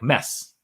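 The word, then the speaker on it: Mads: Thomas is from way closer to Mess Mikkelsen's home than I am, and he says it's with a silent D. Yeah, it's Mess Mikkelsen.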